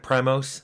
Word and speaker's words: PRIMOS: Looks like Primos, the band, or Primus, or whatever, but it's pronounced Primos, and it was on their Prime computers.